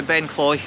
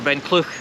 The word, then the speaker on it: Ben Cleuch: we're heading up by ben clay or ben clook sorry i got the pronunciation wrong there um which you can't